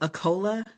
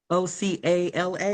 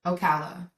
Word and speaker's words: Ocala: I think it's pronounced Aola. O C A L A. Oh, Ocala.